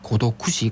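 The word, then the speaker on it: 孤独死: 대신에 고립사를 쓰고 있습니다 다만 영어로는이 고독사의 일본어 발음을 알파벳으로 그대로 적은 고도쿠시 그대로 쓰이거나 다잉 언론이라는이 단어가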